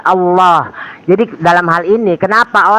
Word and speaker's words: Allah: Padahal itu punya Muslim, pengucapan yang benar itu adalah L-nya itu tebal, Allah.